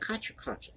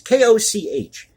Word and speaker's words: Koch: mundo from koch classics is that kachoke it's koch you never remember how to pronounce that chet atkins progressive pickings